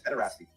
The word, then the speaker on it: pederasty: pedestry as well? It's not how that's pronounced. Hey, moron, it's pederasty. Pederasty.